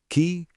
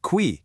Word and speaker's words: qui: First up, we have qui, which means who. Listen to that pronunciation. It sounds a lot like the word key in English, just with a slightly softer K sound.